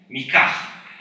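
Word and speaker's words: מקח: The same language purists also trying to correct the pronunciation of mekach to its biblical pronunciation, mikach. Who among you know that the word mekach should be pronounced mikach?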